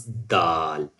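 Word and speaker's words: دال: you say ta, but when you touch it a little bit up side of the teeth, you can pronounce dal.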